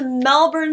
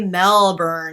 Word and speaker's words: Melbourne: So anyway, yeah, I'm going to Melbourne specifically. And Americans say Melbourne because we feel like we need to, but I was told when I get there I have to say Melbourne.